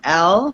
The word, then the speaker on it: Elle: Ellie? Are we saying Ellie or E? Yeah. Actually, no. My name is Elle. It's pronounced Elle.